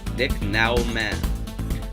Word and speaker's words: Nicknaumann: Okay, I'm definitely going to pronounce this wrong, but Nicknaumann. Like Nick N-A-U, man with 2 N's.